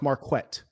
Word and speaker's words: Marquett: My name is pronounced Marquette.